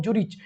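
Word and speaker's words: Zürich: और यूनिवर्सिटी का नाम था यूनिवर्सिटी ऑफ जूरिच। बहुत इसको जूरिक बोलते, बहुत इसको मतलब सब अलग अलग नाम देते हैं।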